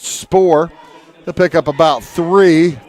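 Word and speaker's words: Spour: quarterback Brett Brett Spore s-p-o-u-r pronounced Spore they'll pick up about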